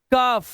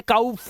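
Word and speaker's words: cough: जैसे out, house, pound, round, round, क्लाउड, क्लाउड, loud, loud, owl, हाँ, कफ, ओ यू, लेकिन आवाज क्या आ रही है कफ, ठीक है, कफ। अब इसे काउफ मत कर लेना, कफ, क्योंकि इंग्लिश के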